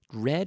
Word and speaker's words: read: Red, which is pronounced just like the color red, rojo.